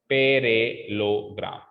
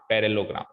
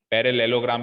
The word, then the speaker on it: parallelogram: इस double L ई को silent करो। अब पढ़ो, पैरेलोग्राम, पैरेलोग्राम, पैरेलेलोग्राम भी नहीं बोलते, पैरेलोग्राम।